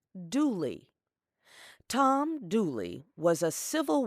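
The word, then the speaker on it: Dula: An example is the story of a young man whose last name was spelled D-U-L-A, but pronounced Dooley.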